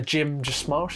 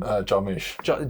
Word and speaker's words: Jarmusch: It's incredibly similar to a Jim Jarmusch, is that how you say his name? Jarmusch.